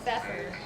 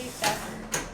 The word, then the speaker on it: Pfeffer: The P is silent, so Pfeffer. Jeffrey Pfeffer.